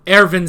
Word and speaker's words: Erwin: Which, I mean, you know, Erwin Smith, it's spelled with a W, but you pronounce it with a V, so.